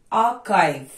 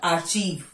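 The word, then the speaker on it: archive: pronounce नहीं होता coarse आर्काइव नॉट आर्चीव आर्काइव choreography choreography eco coir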